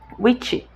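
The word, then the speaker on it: wicce: Defende-se entre as feiticeiras a ideia de que a palavra inglesa witch, feiticeira, deriva do anglo-saxão witche, W-I-C-C-E, que se pronuncia witche, W-I-C-H-E, e que witch significa sabedoria.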